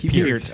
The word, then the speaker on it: Peart: Is it Peart or Peart? It's Peart, as in pull your ear.